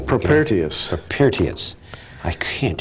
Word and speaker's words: Propertius: He quoted How do you pronounce that name? Propertius.